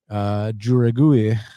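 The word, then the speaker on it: Jauregui: And then the next one in the strawweight division between Yasmin Juragui, that's how you pronounce it.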